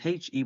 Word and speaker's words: he: And the answer is going to be spelled H-E with the H is silent.